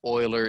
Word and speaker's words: Euler: in the following comment the name euler is pronounced like the word oiler like the former nfl team the houston oilers and i believe there's